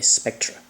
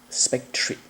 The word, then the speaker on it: Spectre: years if not decades I think I pronounce this character incorrectly a Spectra but uh I think the proper way to pronounce the name is Spectre anyhow um I will